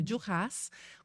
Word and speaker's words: Duras: França né que chama dias com ess a pronúncia é com s eh e e e